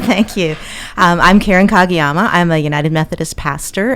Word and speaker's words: Kagiyama: and we'll throw it over to uh Karen kagiyama tell us a bit about you am I